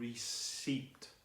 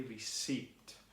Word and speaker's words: receipt: follows the rule but there's that silent P and it finishes with